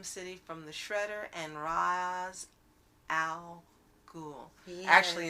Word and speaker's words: Ra's al Ghul: to save Gotham City from the Shredder and Ra's al Ghul. Yes. Actually, it's Ra's al Ghul. Yeah, sometimes I'm like, wait, was that how it's pronounced?